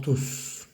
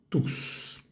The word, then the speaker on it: tous: calme et agréable pour Tous ese tus pronunciamos bien la s vale es una palabra que termina la frase eh quiere decir todos